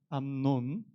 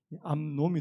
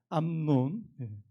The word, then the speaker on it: 암논: 암논, 발음 잘해야 됩니다. 이게 암놈이 될 수 있는 암논.